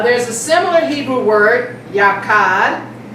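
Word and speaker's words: yachad: The word unity is a Hebrew word yakad.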